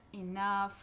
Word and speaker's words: enough: Porém, tem algumas exceções de palavras em que esse GH no final das sílabas tem um som de F. Por exemplo, laugh, laugh, laugh, enough.